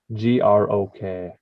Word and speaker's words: grok: G-R-O-K, grok.